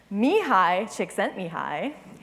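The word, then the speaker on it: Csikszentmihalyi: at the bottom because I've never seen anybody pronounce his name correctly Mii chick sent Mii he is this actually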